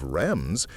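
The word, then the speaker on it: Reims: The Archbishop of Rems became a giant gem. Rems rhymes with gems.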